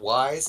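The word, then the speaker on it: Ys: It's pronounced wise.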